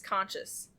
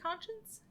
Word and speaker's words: conscience: on his memory because she still plagued his conscious. Conscious? Mhm. Is it conscience?